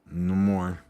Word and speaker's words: Namor: He says Namor. It says Namor. No more. Yeah, no more is what it should be called. This movie should be no more.